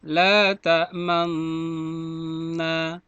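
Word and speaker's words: لا تأمنا: Ada bacaan ismam, la ta'manna, dibaca la ta'manna. Nah, begitu cara bacanya.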